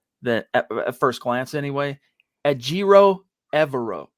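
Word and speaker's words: Ejiro Evero: at first glance anyway ajiro evero ajiro evero that's how you say this cat's name by the way i'm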